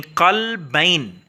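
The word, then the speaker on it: قلبين: अब इसकी मैं एक मिसाल देता हूं बच्चों, जिसकी प्रोनाउंसिएशन अरेबिक में इस तरीके से है, यानी कलबैन, या नून भी एंड पे लगा हुआ है और उसको आप जबर के साथ पढ़ रहे हैं, यानी कलबैन, जेर के साथ नहीं,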